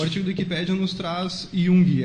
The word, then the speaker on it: Jung: na sequência o artigo da Wikipédia nos traz Yung é assim que eu pronuncio é exato Como qual qual que é